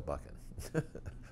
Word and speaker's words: Buchan: But all my dad's friends called us Buchan, which is the true pronunciation.